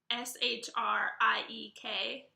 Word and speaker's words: shriek: word number two is kind of tricky right sh r IE k that is pronounced shriek I know shriek sounds like would